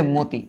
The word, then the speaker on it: মতি: এই যে মতি, কেন? এই যে আদ্য অ, আদ্য অয়ের পরে দেখো একটা রস্বই আছে, আদ্য অয়ের পরে যদি রস্বই থাকে অয়ের উচ্চারণ ও এর মতো হয়। রক্ত, রক্ত, এইটার উচ্চারণ কি?